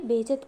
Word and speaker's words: बेइज्जती: क्या बोलूं मैं तुम्हारी बेइज्जत कर रही हूं जो फमंग होती है वो कहती है मैं तुम्हारी बेइज्जत नहीं मैं तुम्हारी बेइज्जती कर रही हूं सही प्रोनाउंसेशन यही होगा टडन जोन होती है